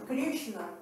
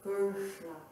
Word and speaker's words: Krishna: Então, esse diacrítico Krishna, que é o cerebral ou cacumbinal, a gente